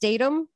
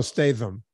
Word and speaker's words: Statham: vinnie jones i know isn't it pronounced datum is it no statham like how you say chatham no stay them all